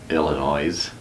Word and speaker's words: Illinois's: I ll Ino is apostrophe how do you pronounce that Illinois's that's right yeah right so you're putting the